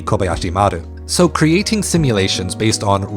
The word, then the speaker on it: Kobayashi Maru: Star Trek's Kobayashi Maru, which I am going to say as Kobayashi Maru because that's how Star Trek culture pronounces it, even though in Japanese it should be Kobayashi Maru.